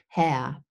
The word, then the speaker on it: Herr: And remember the R, I don't pronounce the R's in Herr. Herr, I have a deep schwa there.